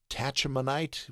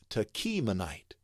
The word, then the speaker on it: Tachmonite: here but boy uh tachmonite would be one way that might think that you might think it is but as we can see here it's Tonite the ah is ah as in Father show you that right